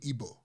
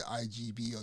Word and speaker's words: Igbo: G is a it's a throat sound so IBO so it's not a IG you know please if you guys see the igb or do not say Igbo it's not what it